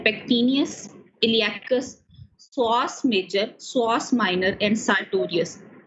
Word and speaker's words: psoas: इसमें मसल्स आते हैं पेक्टिनियस, इलियाकस, psoas major, psoas minor and sartorius। psoas word है, p इसमें साइलेंट है, ठीक है।